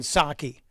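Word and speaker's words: Psaki: Some people say her name is Jen Saki.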